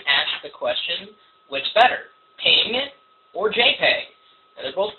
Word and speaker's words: PNG: Ping was actually created as kind of a backlash against the patents on the GIF format. Now, some people pronounce it GIF, G-I-F, versus ping, PNG.